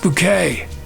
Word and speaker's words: Bucket: like my chocolate bittersweet so it is pronounced bouquet big child a bucket